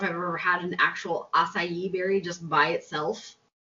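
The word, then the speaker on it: açaí: he made quote-unquote healthy acai berry meth have you ever had a kaiba so rachel from from from what i can ascertain it's acai it's how we pronounce it i i do i'm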